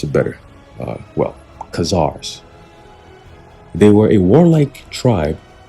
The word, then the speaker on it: Khazars: Let me pronounce it better. Khazars.